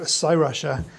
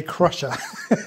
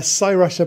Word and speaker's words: Cyrusher: this is the make of this is called s rusher I was going to say Crusher so it's lucky I had a quick look so I could pronounce it right so this is a sa rushia bike and um yeah let's open up and